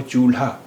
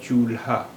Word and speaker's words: चूल्हा: अब देखिए चूल्हा को हम दो तरह से प्रोनाउंस करते हैं, दो तरह से उच्चारण करते हैं। एक तो हुआ चूल्हा और दूसरा हुआ चूल्हा, यानी ला और हा की अलग अलग आवाज़ है, चूल्हा।